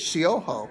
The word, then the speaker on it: Siojo: I always don't know how to say the J in your name. With an H. With an H, Siojo.